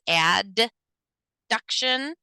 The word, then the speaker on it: adduction: at abduction and adduction I like to pronounce them that way just because it's the only difference is one letter abduction versus add duction abduction is that movement